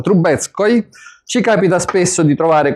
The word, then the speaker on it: Trubetskoy: Lo scultore Trubetskoy, come si pronuncia? Trubetskoy.